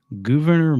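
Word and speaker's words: Gouverneur: one November 6th 1816 Governor Morris and it's spelled g u v r NE R not Governor but governor died from an infection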